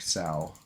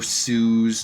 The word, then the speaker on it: Sao: Alright, yeah, you can have Sao as long as you pronounce it like Sao. I'm not casting any others. No Sues, no So's, none of that.